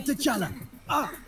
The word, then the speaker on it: T'Challa: Say T'Challa. T'Challa.